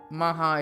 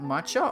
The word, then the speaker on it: Maha: Maha is how it's said if it makes it easier. Oh, it's pronounced Maha or not Matcha?